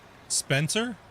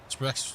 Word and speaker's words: Sprecher: Spencer? Oh, I'm saying it wrong again. Hold on. Spectre? Yeah. Yeah. Well, actually, sorry, I'm gonna try to say it correctly. Sub Oregon. Sprecher.